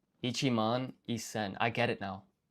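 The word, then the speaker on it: 一千: sen, which is 1,000, however, to simplify the pronunciation, this is actually isen.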